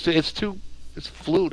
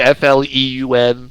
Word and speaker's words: Floon: It's Floon. I thought it'd be Fleun. Exactly. Yeah. It's definitely this. That's how it's spelled. Oh, I'm Candle Lane. All right, let's do it. I spelled it. We've been spelling it wrong the whole time. Floon? It really is just Floon. It's Floon.